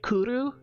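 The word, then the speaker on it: cwrw: What I like about Welsh is that the W is most often a W. Like it's a double U sound. Like it it makes the oo.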